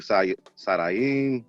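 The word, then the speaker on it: שדיים: Hebrew Sadayim, that's how you pronounce it.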